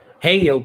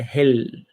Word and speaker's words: Hel: Por isso que algumas pessoas falam Heil por aí, né? Parafraseando a língua inglesa, mas a pronúncia em nórdico é Hel.